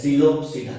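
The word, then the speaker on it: Psilopsida: जो इसका पहला क्लास है वो है सिलोप्सिडा। क्या है? सिलोप्सिडा। पी साइलेंट रहता है, सिलोप्सिडा, ठीक है।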